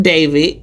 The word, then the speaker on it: D4vd: So D4 VD pronounced David is a 21-year-old American singer songwriter who transitioned from a viral internet sensation to a defendant in a highprofile criminal case.